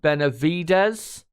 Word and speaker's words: Benavides: Emerson Perez says, just so you know, Benavides is pronounced Benavides. Right, I'll try and remember that. Cheers for that. Brad Benavides.